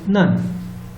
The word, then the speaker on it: none: one or nothing and it is pronounced as none you see example here none of them arrive in time means no one arrive next see the next one this n-u-n is also pronounced as nun and it is a member